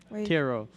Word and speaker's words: tarot: okay hero cards okay tarot it's french you don't pronounce the t or i'm giving up